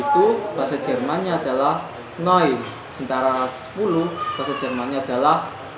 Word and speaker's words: neun: itu bahasa Jermannya adalah noise antara 10 bahasa Jermannya adalah Nah itu kenapa misalnya neun tapi dibaca noi noi karena di Jerman itu EU itu dibacanya Oi jadi selanjutnya jam 13.15